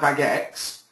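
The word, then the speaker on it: Bagex: can see my screen vagex is spelled b a g e x now if you're going to use a something like bag X um make sure when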